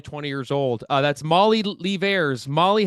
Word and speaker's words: Leivars: I think the worst one that I ever have was Levi's, which was really random,